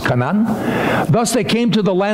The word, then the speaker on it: Canaan: Canaan, actually, is pronounced Canaan.